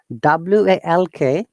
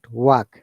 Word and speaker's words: walk: phonetics of english language w a lk in this case it is not work it is oak o rather than wa so would you like